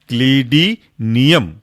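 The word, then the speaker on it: clidinium: उसके बाद अगला जो एग्जाम्पल है आपका वह है क्लीडिनियम। तोड़ेंगे कैसे? क्लीडी, CLIDI, क्लीडी, बचा हुआ आपका नियम NIUM, तो बन गया आपका क्लीडिनियम।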